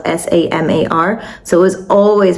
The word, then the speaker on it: Samar: So it's spelled s a m a r.